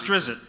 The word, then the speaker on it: Drizzt: No, it's Drizzt. Drizzt? Or Drizzt. I've always said Drizzt. You got to buzz the Z, Drizzt.